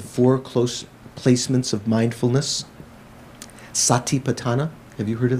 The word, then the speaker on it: sati: be on sati patana sati is the pali spelling pronunciation of smirti why don't they have smear t because generally if you find in in poly if you have two different consonants conjunct to one another they simplify it here there's this um